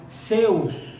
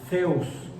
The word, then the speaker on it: Zeus: Y como Zeus se escribe con teta, entonces no es Zeus, como lo decimos en español mexicano. Sería Zeus. Sería como una S arrastrada con la lengua debajo de los dientes, la lengua un tanto de fuera.